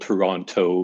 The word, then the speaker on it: Toronto: It's spelled Toronto, but we get lazy and say Toronto.